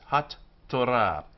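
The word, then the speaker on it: התורה: So hat-torah, hat-torah. And this t with the dagesh inside it goes both to the first syllable and the second. So it's like it's written with two T's, hat-torah.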